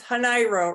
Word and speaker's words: Hanairo: try to say that it's it's hanairo rhymes with Cairo like in Egypt not like in Illinois because then it would be Cairo um anyway the idea